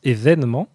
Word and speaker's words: événement: Et on prononce, bien sûr, tout le monde prononce événement. Il n'y a aucun cas de prononciation événement. Et pourtant, la deuxième ligne est l'orthographe officielle.